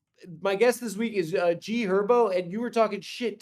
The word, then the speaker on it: G Herbo: It's also G Herbo. The H What is is going silent, on? bro. What? The H is silent. It's G Herbo.